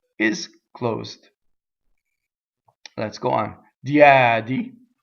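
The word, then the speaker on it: diedi: Diɛdi, single D. Right? How we make a mistake? Diɛdi, right? Make two D's. Diɛdi.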